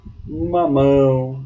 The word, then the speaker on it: mamão: Mamão, mamão. A sílaba tônica ela está na última sílaba e assim ela é chamada de oxítona.